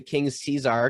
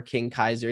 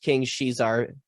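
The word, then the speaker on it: King Caesar: film called uh king shizar um some might pronounce it king's cesar because that's kind of how it's spelled or king kaiser depending on how you pronounce it but um it's pronounced king she's our mainly because in japanese enunciation there's no enunciation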